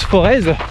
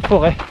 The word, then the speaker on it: Forez: À tous ceux qui disent Forez, eh ben vous n'êtes pas des Forésiens. Ceux qui habitent ici disent le Forez.